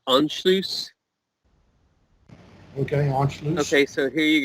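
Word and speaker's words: Anschluss: but the one is I'll spell it a n SC h lu SS i don't have that ha my it as if I didn't make hey that's that's pronounced unloose okay okay so here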